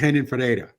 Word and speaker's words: Renan Ferreira: Well, first, don't forget, in Portuguese, the R isn't pronounced. So it's Renan Ferreira, right?